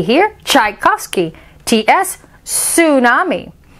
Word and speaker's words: tsunami: dunes t is for tsunami shhhh the charging tsunami washed away all of tchaikovsky's tchotchkes not all